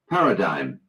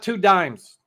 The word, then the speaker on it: paradigm: and how do you how do you say it Paradigm Paradigm Paradigm that's not two dimes that's not paradigms no that's not two 10 cent pieces no Paradigm it's a